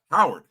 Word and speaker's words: Howard: Not I actually pronounce it with the H. Howard with the H on it.